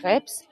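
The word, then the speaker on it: crêpes: I think I mean the correct way to say is craps that's also what I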